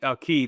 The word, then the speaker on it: Quay: Key. Fundy Quay Key, that's right.